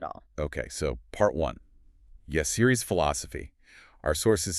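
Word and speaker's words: Yahcri: We are diving into Bloomja Aesthetics, and that's pronounced Bloomja Esthetics. And the owner, the founder, is Yassiri.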